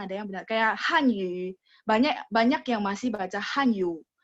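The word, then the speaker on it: 汉语: Kayak Hanyu. Banyak yang masih baca Hanyu. Bukan yu tapi yu. Hanyu. Yu-nya mulutnya bulat. Tapi bukan yu. Kalau yu itu kan full ya. Hanyu. Oke, 加油 ya.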